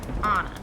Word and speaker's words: Anne: Which my name is Anne, not Anna. And it's pronounced like the Dutch, which sounds like Anna.